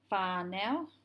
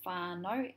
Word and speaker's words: whānau: It's not whānau, it's whānau. The AU makes an O sound.